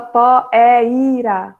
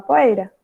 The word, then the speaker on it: poeira: A gente não fala poeira, a gente fala poeira, poeira. O i fica quase só daquele toque.